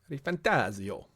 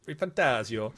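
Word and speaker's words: ReFantazio: tree Final Fantasy 7 rebirth metaphor ref fantasio re fantasio you got to say it like that fantasio re fantasio um we're not going to get into the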